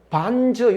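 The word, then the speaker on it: 反諸: 그 방법은 또 반저, 요 제자는 저로 발음하는데요.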